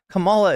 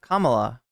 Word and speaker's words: Kamala: follow Kamala Kamala around Kamala is not how you pronounce it Kamala it's academic at this